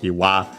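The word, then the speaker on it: 岩: Yeah, combines the two kanji, one for boulder, the other one for rock, Iwa, respectively, and Ishi, both accent on the last mora on their own as the strictly Japanese readings.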